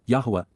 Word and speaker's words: Yahowah: growing again these would be weeds and W Yahweh Yahweh the proper pronunciation of the name of eloah God as